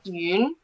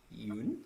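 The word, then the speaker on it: 云: So it's pronounced as yun. Yun?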